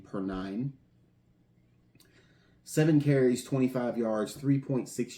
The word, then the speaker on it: Perine: Uh, Sam J. Perine, I believe, is the way you pronounce his name. per nine.